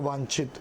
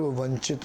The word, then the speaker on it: वांछित: इस्तेमाल होती है VANCHIT, तो वो पढ़ने वाला उसे कई बार सर्व वंचित पड़ जाता है।